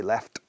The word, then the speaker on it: laughed: Y luego sonido de T, laughed.